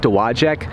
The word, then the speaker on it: Dowagiac: at the the name of the city it's pronounced Dowagiac how do I know that well there's a